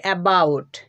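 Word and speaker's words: about: আমরা সাধারণত উচ্চারণ করি এবাউট কিন্তু এটার উচ্চারণটা হচ্ছে কি একটু ভালোভাবে লক্ষ্য করো এ এর জন্য উচ্চারণ করতে হবে দেখো আমরা উল্টা দিকে ই পাচ্ছি এর জন্য শোয়া সাউন্ড উৎপন্ন করতে হবে তারপর দেখো বি ও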